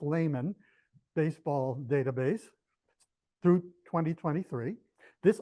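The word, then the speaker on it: Lahman: I used, I think it's actually pronounced layman, baseball database through 2023.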